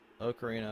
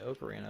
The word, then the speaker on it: ocarina: I'm thinking that one, or maybe The Legend of Zelda Ocarina of Time. Yes, I say Ocarina of Time because that's just the name of the instrument.